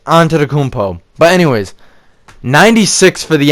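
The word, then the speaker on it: Antetokounmpo: and ask Yanis like how I pronounce his last name it's Yanis onto the compo but anyways 96 for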